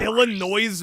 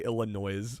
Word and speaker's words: Illinois: I have never once heard I have never once ever heard anyone say illan noise unironically.